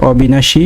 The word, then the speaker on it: অবিনাশী: তারপরে প্রদত্ত শব্দ হচ্ছে অবিনাশী। অবিনাশীয়ের উচ্চারণ হবে সরীয় বয়সী দন্তনকার তাহলে বসয় রস্বীকার। যদিও বানানে দীর্ঘিকার রয়েছে কিন্তু উচ্চারণের সময় রস্বীকার হবে।